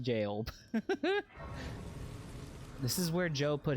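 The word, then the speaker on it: Gaol: The Bonnie Gowl. I know it's pronounced jail.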